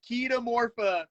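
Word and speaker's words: Chaetomorpha: green hair algae um that people call cheeto morphing this pronunciation is keto morpha i'm a cheeto punishment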